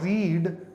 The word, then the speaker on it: read: when you look at read you spell them the in the exact same you just change the pronunciation read red read read red red right so uh these